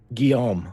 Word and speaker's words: Guillaume: Guillaume. Guillaume. It's like William, right?